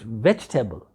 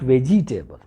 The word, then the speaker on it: vegetable: can't see it's veggie it's vegetable veg vegetable not veggie table you have no authority to say vegetable because the crack pronunciation for the native speakers they pronounce this word at vegetable so this is